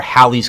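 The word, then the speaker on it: Halley: form comets some like Haley's Comet have very elliptical orbits Haley's Comet or Hal's comet I think is actually how it's pronounced comes by every 76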